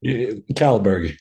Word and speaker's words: Kållberg: name again I'm sorry calberg is probably the easiest way to pronounce it he's a former bodybuilder